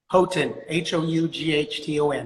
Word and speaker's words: Houghton: Houghton, Houghton. Houghton.